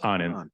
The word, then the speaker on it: Anand: Tell me once again, Anand, is that how you say it? Yes, Anand.